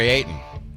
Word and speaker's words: Ayton: youtube he says uh nick you can't seem to pronounce ayton's last name properly there's a t in there so he wants me